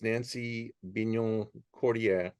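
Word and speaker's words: Nancy Bignon-Cordier: Our picture is Nancy Bignon Cordier, which is, did I pronounce that okay, Jean-Michel?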